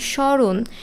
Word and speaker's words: স্মরণ: যেখানে উচ্চারণ হচ্ছে না যেমন স্বরণ এই স্মরণে ম ফলের উচ্চারণ হচ্ছে না